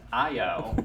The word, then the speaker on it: IO: not it may be two letters but it's pronounced IO as in a name it's a name it's